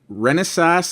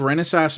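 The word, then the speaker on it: Renesas: avermedia officially supports with this device are intel renaissance i think that's how you pronounce their name r-e-n-e-s-a-s and somebody called fresco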